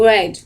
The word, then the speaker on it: read: Essa pronúncia de read é similar à pronúncia de vermelho, red.